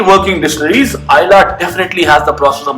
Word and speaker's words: Islay: बहरहाल काउल इला हो या cool Ayla, it still is my most favorite Islay malt, not Islay, Islay.